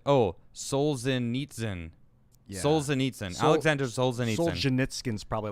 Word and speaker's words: Solzhenitsyn: so i can there we go it is pronounced souls in that's what it looks like oh solzhenitsyn solzhenitsyn alexander solzhenitsyn skin's probably like an ameri